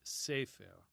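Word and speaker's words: ספר: the the consonental graphimmes from right to left are s which makes the s sound. P which in this case makes an f sound. It can make a p sound and an f sound. And then is the letter to the left safer safer and it means book.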